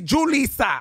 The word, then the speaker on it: Julissa: Not Julissa. Yeah, I was like Julissa, and she's like, "Mira, it's Julissa."